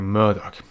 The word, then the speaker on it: Murdoch: Lord Murdoch? Jawohl. Okay, Murdoch. So wird er ausgesprochen.